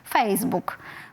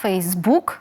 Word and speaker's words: Facebook: наголошеним на другий склад наприклад слово Facebook усі англомовні люди наголошують ну яких я чула наголошують Facebook в українській мові наголос на останній склад Facebook Ну напевно через те